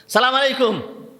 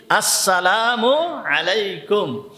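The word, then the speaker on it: السلام عليكم: সালামু আলাইকুম। সালাম দিছে কি? সালামু আলাইকুম। এইগুলো সুন্নাত অনুযায়ী সালাম হবে না। সালাম দিতে হবে। সালামটাকে ঠিক সুন্দরভাবে উচ্চারণ করতে হবে। উচ্চারণ কি? আসসালামু আলাইকুম।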